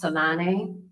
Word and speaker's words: Tislane: My name is Tislane, pronounced Salane, in its native language of Africa, native to the Bantu tribe and people of South Africa.